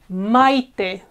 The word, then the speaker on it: Maite: An example, again, a name, a female name is Maite, Maite. A strong one, I, a weak one, so they are together. Mai, and then te is a separate syllable, okay?